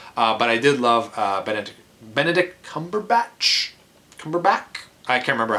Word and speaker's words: Cumberbatch: I did love Benedict Cumberbatch? I can't remember how to... Cucumber is how a lot of people pronounce his name, which is totally wrong, but amazing actor, and as the villain of this movie.